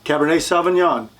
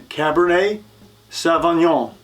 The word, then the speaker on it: Cabernet Sauvignon: are the nine red Noble grapes number one Cabernet Sauvignon it's from Bordeaux France again Cabernet Sauvignon Merlot from France Pinot Noir from France number